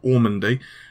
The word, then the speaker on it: Ormandy: by Tavis ormandy and no I didn't spell pronounce Normandy wrong ormandy and I'm definitely going